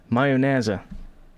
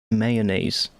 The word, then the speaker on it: mayonnaise: pronouncing it in english mayonnaise that's how we would pronounce it in dutch mayonnaise that's what it is